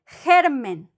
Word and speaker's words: germen: If they don't have the U, the sound wouldn't be G, would be H, like an H in English. H. For example, germen, germ, germen, no?